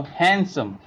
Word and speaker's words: handsome: it handsome not handsome D is a silent here so handsome H sandwich and also